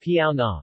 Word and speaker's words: Baonang: the bonan language pronounced piao na baoning chinese bao and yu bayon yu amdu